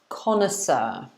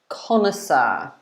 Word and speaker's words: connoisseur: And this is pronounced, in English, it's pronounced connoisseur. Connoisseur. Okay. So it's 3 syllables, connoisseur.